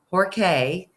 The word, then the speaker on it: Jorge: Pope until then he was Jorge Mario bergoglio Jorge that's how this pronounced may Rio Bear go Leo we're gonna